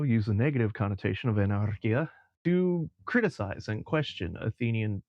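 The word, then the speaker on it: ἀναρχία: Well, that would be ancient Greece, with this word, Romanized and pronounced as anarchia, which had both a positive and a negative connotation.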